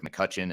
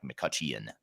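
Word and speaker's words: McCutcheon: version uh it's McCutchen and the last name is spelled MCCC e h e o n so there's an e in there that's silent but it's muten but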